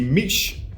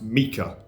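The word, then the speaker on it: Miche: Next is the Meech Carbograph, which is actually pronounced Mika, but I feel weird saying Mika, so I'm just going to say Meech.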